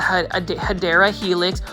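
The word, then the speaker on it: Hedera helix: we have everybody's favorite this is a HRA helix or the correct way to say it is a Cadera helix or English ivy now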